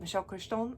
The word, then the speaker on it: Michael Crichton: She's French-Canadian, and she pronounces it Michel Crichton, and I prefer that.